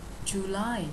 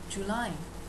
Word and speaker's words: July: July, nhớ âm thứ hai nha. July. July.